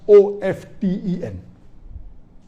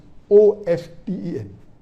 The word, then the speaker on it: often: Some will say often, some will say often. Previously it was often, then it became often. Now new people are saying no, often is correct. T is not silent, it should be pronounced.